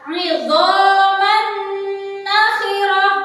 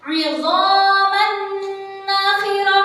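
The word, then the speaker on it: عِظَامًا نَّخِرَةً: Idhaman nakhirah. Saya ulang. Idhaman nakhirah. Jadi dimasukkan dengan mendengung, ada suara dengungnya. Idhaman nakhirah.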